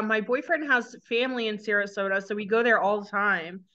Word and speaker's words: Sarasota: on Vegan Fest in Sarasota Sarasota that's how you say it I believe really oh my